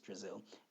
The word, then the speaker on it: Drazil: frye no exclaimed mrs drazil it was just a little joke brazil rhymes with brazil i i thought it might help you remember my name terence laughed brazil brazil